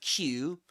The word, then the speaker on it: queue: So, going back to Q, the the letter the word Q, which is pronounced just like the letter Q.